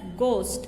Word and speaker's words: ghost: Here GH, but we will read it as ghost. Only G is pronounced, okay.